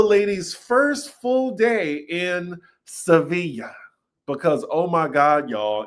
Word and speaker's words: Sevilla: Monkey, you know, like I be having some trouble pronouncing Sevilla. Okay, it's Sevilla.